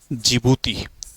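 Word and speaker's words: Djibouti: जिबूती ठीक है जिबूती जो है वह डी से बनता है। डी जी डी जे आई ठीक है जी। तो डी साइलेंट रहता है तो उसको जिबूती बोला जाता है।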